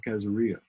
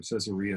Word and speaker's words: Caesarea: And one of the people who brought it home is Basil of Caesarea, or Caesarea, however you want to pronounce it.